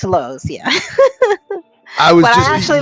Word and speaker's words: Lowe's: hungry it's yeah he's he pronounces it LS it's it's Low's yeah but I actually